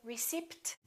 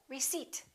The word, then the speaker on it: receipt: new clothes all right silent P don't say receipt say receipt can I have my receipt psychology psychic one more cupboard don't say cup